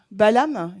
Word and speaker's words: Balaam: How do you It- pronounce it in English? In English, Balaam, they said.